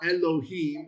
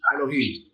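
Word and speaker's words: אֱלֹהִים: It shortens that sound to be even shorter. So it's not Elohim, it's Elohim.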